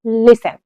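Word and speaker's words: listen: हाँ, हमने बोला लिसन, कि आप लिसन बोलते हो नहीं ना, तो यहां पे हमारा टी साइलेंट होता है, इसे हम बोलते हैं लिसन।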